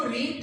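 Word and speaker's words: read: Third form क्या है, वही स्पेलिंग रहती है लेकिन प्रोनाउंसिएशन उसका अलग हो जाता है। रीड first form, रेड रेड कहते हैं लेकिन स्पेलिंग यही, तो थर्ड फॉर्म क्या लाएंगे हम, रेड।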